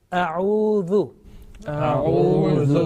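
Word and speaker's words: أعوذ: Again, zal, soft and thin, not mingling, not mixing with the sound with the buzzing sound like za. Okay, atuz zakat, not that one. Zu. A'udhu.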